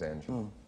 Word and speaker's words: Angela: glad to know that how do you say your wife's name I've seen it printed angels and Angela which is the typo um Angela Angel her real name is Angela just Angela she a model is she